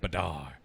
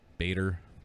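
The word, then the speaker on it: Badr: cairo to celebrate operation badar uh i'm pretty sure that's how you spell i say that b-a-d-r bader badar i would imagine badar uh during which the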